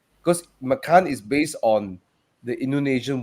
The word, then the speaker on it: Macan: He said, "Guys, you're saying all wrong, because Macan is based on the Indonesian word for tiger, right?